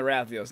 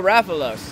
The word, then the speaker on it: Rathalos: No, I don't want to think of the fact that he's in the Rathios nest.